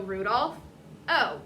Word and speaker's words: Rudolfo: So we don't say Rudolph, O, no pauses. So take out the pause, and what is that? Rudolpho. There you go.